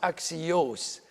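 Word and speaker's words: ἀξίως: This word here, this is pronounced axios.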